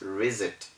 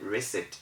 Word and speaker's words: reset: you can see that the s is between e and i so reset should have been mentioned as reset but because it is an exception we still call it reset we maintain the ordinary